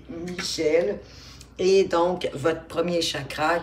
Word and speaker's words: Michel: J'allais dire Michael parce que c'est un archange qu'on peut prononcer soit Michel ou Michael, mais bon, ici c'est Michel.